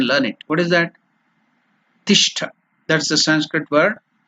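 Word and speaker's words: तिष्ठ: Tishtha. That's the Sanskrit word. Ti. Ta plus E. Ti. It is not elongated, it is Hrasva.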